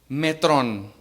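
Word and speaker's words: μέτρον: Metrón.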